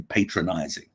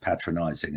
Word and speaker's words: patronizing: said dr costello i found your presentation very patronizing and uh i wanted to say well actually it's pronounced patronizing and it means speaking down to people but